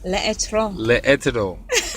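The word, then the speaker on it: L'Etre: How do you pronounce it? How do you say it? L'Etro.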